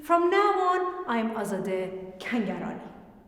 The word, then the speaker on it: Kangarani: Anyway, those of you who know me as Azadeh, from now on, I'm Azadeh Kangarani. Kangarani? Kangarani. Macaroni. Rhymes with macaroni.